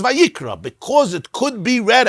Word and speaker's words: Vayikra: The pronunciation could have been vayakri, but if you read it vayakri, it's wrong. Because the pronunciation is vayikra, because it could be read as vayakri.